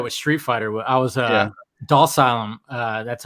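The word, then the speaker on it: Dhalsim: I was Dalsylum.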